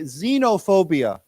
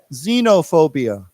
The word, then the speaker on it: xenophobia: quite common too now this x here is pronounced with a z z sound right let say xenophobia xenop xenophobia xob and then let's